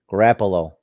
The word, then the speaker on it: Garoppolo: Garoppolo, I forgot how you pronounce his name. Garoppolo.